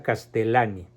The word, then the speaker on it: Castellani: jesuita escritor teólogo filósofo novelista de nombre Leonardo castellani se pronuncia castelani les ruego por favor a los que realmente